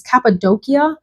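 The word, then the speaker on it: Cappadocia: even know how to say the name it's capid doia which represents a region of turkey and it's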